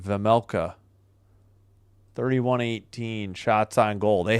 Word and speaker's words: Vejmelka: Vejmelka. Yeah, the J is silent. Vejmelka.